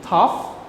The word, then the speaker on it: tough: Tough. You have to remember that every word GH that have GH, so you have to pronounce F, right? You have to pronounce sounds like F, okay?